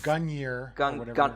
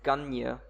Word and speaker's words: Gungnir: well, I don't think you pronounce the second N. I mean, my Old Norse isn't very good, but Yes. So it's Gungnir. It's Gungnir.